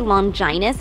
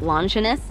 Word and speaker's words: Longinus: Speaking of the minister, I gotta ask, why do you say Longinus instead of Longinus? Because it is the proper way to pronounce it, though some regions say it the other way.